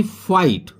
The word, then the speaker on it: fight: हुई थी सभी में, अब यहां पर आ रहा है GHT, परंतु इसकी GH की आवाज नहीं आएगी, ये साइलेंट रहेगी। FIGHT ये होता है फाइट।